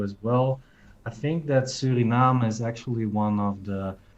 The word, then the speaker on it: Suriname: dutch actually so the the way to pronounce that is suriname suriname actually would be the same way as we pronounce it in italian so then puerto rico